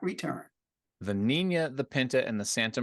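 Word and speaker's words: Niña: Was it the Nina, which I believe is how it's pronounced because it's got the little squiggly thing on top of the second N?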